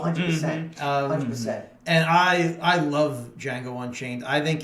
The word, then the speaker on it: Django: A few years later is Django Unchained. The D is silent. Gentlemen, you had my curiosity, but now you have my attention. So, Mike, what's wrong with you, my man? What'd you think of Django?